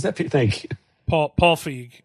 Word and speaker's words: Feig: This uh Peter Peter Pete I'll pronounce I'll mispronounce the name. Is it Fig? Who's Pete? Pete Paul Paul Feige.